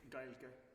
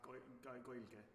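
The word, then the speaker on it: Gaeilge: In Ireland, they would say Gaelge or Goilge, I believe is how they say it.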